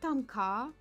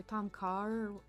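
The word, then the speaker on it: Tom kha: Yama is seafood soup I like Tom K or Tom car I think it's Tom CA um pronounced that way but it's my favorite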